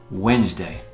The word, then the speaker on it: Wednesday: It's spelled Wednesday, but it's pronounced Wednesday.